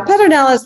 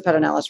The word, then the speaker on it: Pedernales: better knowledge tell me the way the locals pronounce it in the history behind that yeah pedro nellis means flint i mean the stone plant uh